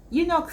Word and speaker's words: eunuch: you might ask yourself you knock starts with e yes i agree with you in the letter it starts with e but in this